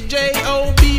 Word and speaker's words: Job: My name is J-O-B, pronounce it Job if you please.